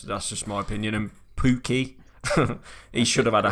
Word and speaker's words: Pukki: If I pronounced that right, yeah? No, Pookie. you haven't. It's Pookie.